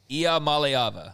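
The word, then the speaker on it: Iamaleava: a good bit so here's how you pronounce it fellas IA Mal AA Ila malava I malava malava malava he and DJ OU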